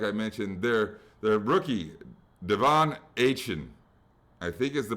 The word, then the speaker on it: Achane: Their rookie, Devon Achane, I think is the correct pronunciation. I thought it was Achane. I think it's Achane.